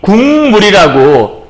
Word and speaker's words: 국물: 그래서 국물이 국물이라고 이 국물이 국물이라고 이렇게 이응으로 기역이 바뀌는 이유는 뭐냐면 기역이 미음과 같은 좋은 방법으로 이해가세요? 같은 위치에서 발음을 하기 위해서 같은 방법으로 발음하기 위해서 이 비음의 위치로 이걸 내려버리는 거죠.